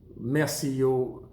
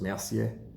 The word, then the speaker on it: Mercier: Mercier is a funny name. It's Mercier. There's different French ways of saying it, even different sort of pronunciations. A Parisian person from Parisien from Paris will say merci. They really get quite guttural, but it's otherwise it's just Mercier.